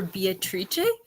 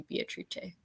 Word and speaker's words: Beatrice: My audiobook called her Beatrice, which I'd never heard. That's, I guess, I was always saying Beatrice, but the Italian pronunciation might be Beatrice.